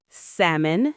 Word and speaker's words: salmon: Salmon, no L.